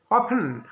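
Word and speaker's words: often: অফেন, দেখো এখানে মনে রাখবে অফেন, এখানে টি এর উচ্চারণটা কিন্তু হয় না, এটা মনে রাখবে।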